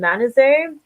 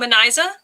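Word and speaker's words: Manizheh: I don't know if that's the way you pronounce her name. Manize, was it? Oh, Maniza? Maniza. Never mind. Yeah, Maniza. The audiobook helped me so much.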